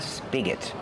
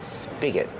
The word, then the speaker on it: spigot: You can call it a tap or a spigot. So, tap with a short a sound like apple and black cat, tap, and spigot. Spigot. Use the short is sound like this is.